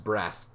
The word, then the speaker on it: Breath: breath rhymes with death reads to you from